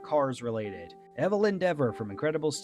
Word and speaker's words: Evelyn Deavor: Evelyn Deavor. What does that sound like? Evelyn Deavor. Hm, perhaps evil endeavor?